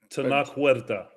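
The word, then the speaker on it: Tenoch Huerta: The guy who played Namor, who I can't pronounce his name. Tanac Huerta.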